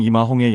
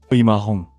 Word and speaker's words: 임아홍: 이마홍, 또는 중국식 발음인 리마홍으로도 알려진 이 사내는 16세기 중반 광동성과 푸젠성 일대에서 악명을 떨치던 해적이자 동시에 강력한 군벌이었습니다.